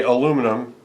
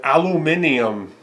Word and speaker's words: aluminium: sound that way but you know I say aluminum but aluminium right aluminium so yeah I got a multimeter